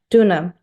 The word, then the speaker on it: Döner: Is it how to pronounce it? Döner? Döner.